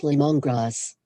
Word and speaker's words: lemongrass: supposed to be say the stress is on the first syllable but my device wanted to put it on the second for simple users this